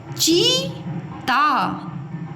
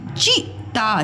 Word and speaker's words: चीता: क्या लिखा हुआ है चीता चीता और यह लिखा हुआ है च चता चिता चीता चिता तो क्या है आपका राइट चीता ओके अब देखो यहां